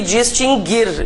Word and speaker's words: distinguir: Esses dois verbos nunca tiveram trema porque o U nunca foi pronunciado. Mas há muitas pessoas que pronunciam o U, né? Então, extinguir e distinguir, e inclusive todas as suas conjugações.